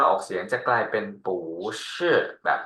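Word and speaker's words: 不是: เสียง ที่ 4 ปั๊บ ปู้ ที่ อยู่ ข้าง หน้า ต้อง เปลี่ยน เป็น เสียง 2 ทัน ที ก็ จะ อ่าน ว่า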